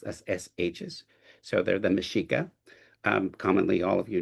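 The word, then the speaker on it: Mexica: indigenous dominion by the Mashika/astc Empire X's are pronounced as sh's so they're the Mishika um commonly all of you know them as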